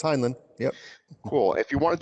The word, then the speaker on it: Heinlein: we'll do Robert Heinlein just mispronounces name is a Heinlein no it's Heinlein yeah cool if you